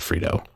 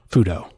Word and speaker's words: Fudo: Started things off before the show with Cree Fudo, which I believe that's how you pronounce it, or is it Frito? No, not Frito. Fudo. You said it right.